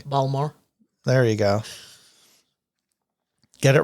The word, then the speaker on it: Baltimore: Baltimore I like Baltimore but but I'm not pronouncing it correctly balmore there you go get it right so I'm